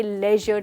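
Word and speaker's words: leisure: That's right, इसको हम कहेंगे ले ना कि ली, तो आप कहेंगे लेजर टाइम।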